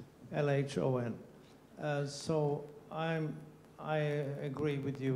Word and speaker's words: LHON: In Swedish, we pronounce the abbreviation LHON as live here or now. LHON.